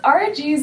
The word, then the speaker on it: RG: time question about okay is rg's name Archie no it's RG Like okay that's his actual